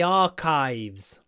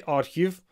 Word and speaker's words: archive: look in the family archives another word where a Russian is an English C archives look my mouth is open archive archive don't say arive archives open your mouth archive